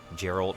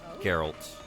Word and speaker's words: Geralt: There's no J. Like soft G. I'm reading Sen's comment there with a J.